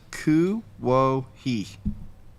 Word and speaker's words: Kuwohi: Wait, I want to say Les's name it's pronounced Ku Wo He, and it's spelled Kuwohi. There you go. And that's going to be the new name for Klingman's Dome. Very interesting. Klingman's a lot easier. Kuwohi.